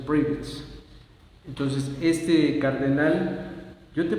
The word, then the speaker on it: Prevost: Este Robert Francis se escribe prevets y se pronuncia privat. Esa es la pronunciación privat.